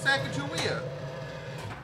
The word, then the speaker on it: Sacagawea: It's Sacagawea.